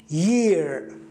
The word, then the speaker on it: year: جديدة، خذها معلومة عندك، أن الإي إذا ما اجتمع مع الإي أيضا هو ياء، فياء مع ياء في اللغة الإنجليزية أي حرفين متشابهين في النطق ينطقوا نطق واحد. يعني مثلا لو في تي تي، حرف تي وتي ينطقوا تي واحد، هنا ياء وياء ينطقوا ياء واحد فتصبح year.